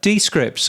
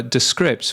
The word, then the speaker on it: Descript: uh talking about AI as we were earlier descript or rather descript which is the correct way of pronouncing them um they have been adding more